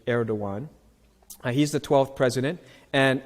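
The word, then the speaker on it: Erdoğan: Diwan by the way a lot of people cannot pronounce Turkish is a very hard language not that I know but all the letters are very different from our letters so that GaN is actually air dawuan he's the 12th president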